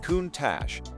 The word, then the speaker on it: Countach: The mid-engine Countach, pronounced Countach, had evolved into a spectacle of wild flares,